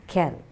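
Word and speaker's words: quelles: the end so q-u-e-l-l-e-s pronunciation of all the four words is kell okay goes just kel so can film regard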